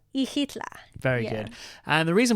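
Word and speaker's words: Xilitla: to a little town called ehla spelled with an X at the start right ihla very good and the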